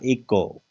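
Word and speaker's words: echo: इसमें देखिएगा इको, तो अच का उच्चारण नहीं होता, अच साइलेंट है, सी के बाद है।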